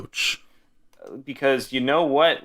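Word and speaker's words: Roache: I want to kind of go back and talk about Linus Roach or Roche. What did we agree on as pronunciation? I think Roach.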